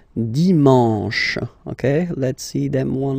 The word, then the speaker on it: dimanche: And the last one, dimanche, dimanche. You get the sh, sh, sh, sh, and then an, en, en, dimanche.